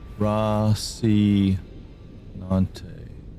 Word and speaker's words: Rosinante: Rosinante. Rosinante. Something like that. Is that how you pronounce that? Ros razinante. I don't remember. I remember it being cool. Rosi Nante.